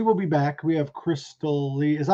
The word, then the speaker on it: Christalee: We have Christalee. Is that how you pronounce it? Christalee? Christalee? Christalee? Christalee? Christalee. Say that Christalee. Christalee. That's a crystal ball. Like a crystal ball, like Christalee.